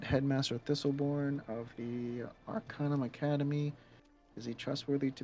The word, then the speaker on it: Arcanum: is called what is it Arcana Arcanum it's Arcanum Academy of mystical Studies arum Academy um yeah hold on it's spelled uh a r c a n u